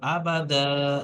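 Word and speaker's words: أبدا: আবাদা, এখানে আপনি দাঁড়াচ্ছেন তো, তো দাঁড়াতে গেলে এটাকে একালিফ বাদ দিয়ে, একালিফ পরিমাণটা একটা জবরকে বাদ দিয়ে একালিফ পরিমাণ টান দিয়ে আলিফে মাদ্দা করে পড়তে হবে।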